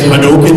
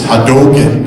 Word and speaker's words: Hadouken: know if you say hadouken is pronounced peanut butter jelly time I'm gonna say peanut butter jelly time and just to clarify it's real not Ryu it's hadoke not Hadouken how do I know